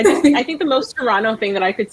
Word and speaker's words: Toronto: too am based in Toronto the te is silent and I love raccoons raccoons why I don't I really don't I just I think the most terano thing that I could